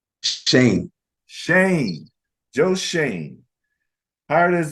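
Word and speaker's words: Schoen: with your general manager Joe how do you pronounce his last name Shane Shane Joe Shane Howard is the Giants general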